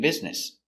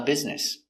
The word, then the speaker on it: business: B I B Z Biz N business. E business s business.